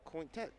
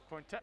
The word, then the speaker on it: Cointet: Coach said it was Cointet. Cointet, okay.